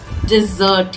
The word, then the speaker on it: desert: एक और शब्द इससे मेल खाता है जो कि है yes, DESERT. इस शब्द का मतलब है रेगिस्तान या फिर छोड़ देना. डेजर्ट. इसको हम बोलते हैं डेजर्ट.